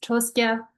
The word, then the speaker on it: Troskya: It's not very easy to kind of see how you pronounce it, but it's Troskya.